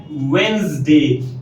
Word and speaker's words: Wednesday: This word is pronounced as Wednesday, not Wednesday. ये D letter को pronounce नहीं किया जाता.